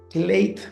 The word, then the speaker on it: Clate: with you looking forward to our conversation um clate for the audience and also uh to make sure my my pronunciation of your name was correct you got